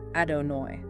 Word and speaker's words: Adonai: so much so that we don't pronounce it directly out of reverence. Right. We usually say Hashem, which just means the name. Exactly. But during prayer, we pronounce it as Adonai.